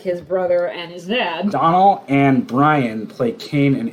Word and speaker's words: Domhnall: I think it's pronounced Donald. Donald?